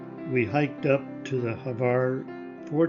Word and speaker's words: Hvar: Hvar is pronounced somewhat like it is spelled with the H almost silent.